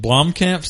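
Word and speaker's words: Blomkamp: late 2016 we could have both was it Blom camps is that how you say his name Blom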